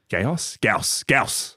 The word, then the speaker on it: Gyaos: And then we see Gyaos. Gyaos.